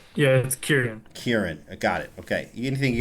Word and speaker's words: Kieran: It's Kieran. Kieran.